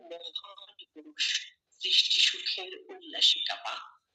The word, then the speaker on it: কাঁপা: চন্দ্রবিন্দুর ব্যবহার চন্দ্রবিন্দু যখন হবে কোন একটা শব্দের উপরে যখন চন্দ্রবিন্দু বসবে তখন এই শব্দটা নাক দিয়ে উচ্চারণ হবে। নাক দিয়ে উচ্চারণ কি? নাকে যেমন এটা কাপা কাপা। নাকে শ্বাস হবে।